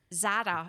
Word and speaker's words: Zara: Do you have this like So Zara is how I say my name.